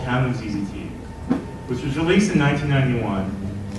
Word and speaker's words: ZZT: Tim Sweeney, in that same interview that I just cited, claims that he intended ZZT to be pronounced as a single syllable, like a sound effect, like zzz, like someone getting electrocuted.